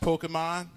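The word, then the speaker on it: Pokémon: You know it's pronounced Pokemon.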